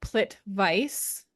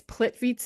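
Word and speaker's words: Plitvice: to Google image search it's spelled like plit Vice but it's plit vit or plit yeah plit vit National Park but it spelled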